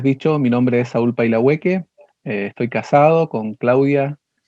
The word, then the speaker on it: Pailahueque: Saúl Pailahueque, así se pronuncia tu apellido, ¿verdad? algo Paila, así. Pailahueque.